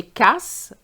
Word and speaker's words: cas: So you have to be very careful not to pronounce the S if you want to say the case, le cas.